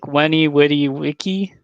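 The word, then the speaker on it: Veni, vidi, vici: In Latin, you pronounce the letter V, like Victor, like a W. I did not know that. So like Weni Witty Wiki is Veni Vidi Vici, but you pronounce it with W.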